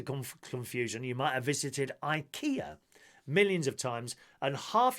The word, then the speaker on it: IKEA: You might have visited IKEA millions of times and half your home might be filled with its furniture, but that doesn't mean you're pronouncing it correctly. Rather than IKEA, it's actually IKEA.